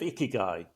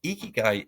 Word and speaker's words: ikigai: But ikigai in its is like the intersection. Ikigai is like two syllables in Japanese, and iki Hmm.